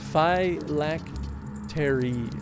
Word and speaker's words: phylactery: It's pronounced phylactery.